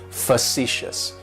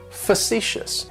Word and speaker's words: facetious: described me is facetious facetious has three syllables and the stress is on that second syllable it's like you're just saying the letter C C yes and that first syllable has that schwa that sound facetious facetious facetious means